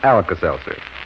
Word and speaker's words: Alka-Seltzer: t z e r spells relief although it's pronounced alas Elser if you want to be scientific about it